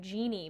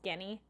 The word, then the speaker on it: Jenny: translate his name - it looks like genie but it's Jenny some watch him like